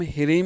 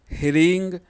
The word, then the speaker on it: ह्रीं: यदि आप इसे एंग ह्रींग क्लीम बोलते हैं तो ये गलत हो जाता है।